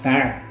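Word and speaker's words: Tarn: Ele foi morto em Albi, em Tar. Mas Tar se escreve T A R N.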